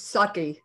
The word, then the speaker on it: Psaki: back to jen sackey she's sucky is that how you pronounce it i'm not a pronunciation the p is silent yeah i like i